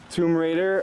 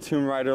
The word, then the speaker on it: Tomb Raider: to get this game Tomb Raider a lot of you freaked out when I said tomb Rider last time so I made sure I said it right Watch Dogs too awesome